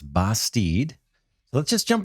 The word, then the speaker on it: Bastide: on a game called basteed i checked with the developer on that pronunciation so i believe it's basteed so let's just jump